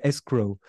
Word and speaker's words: escrow: ça c'est j'avoue que faut bien prononcer le W quoi bien le prononcer le W escrow ok donc ça c'est